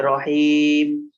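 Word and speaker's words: الرحيم: জের মি রহিমি এখানে যেহেতু বাক্যের শেষ এ কারণে মিমকে জের পড়া যাবে না সাকিন করে পড়তে হবে রহিম তাহলে বিসমিল্লাহ হির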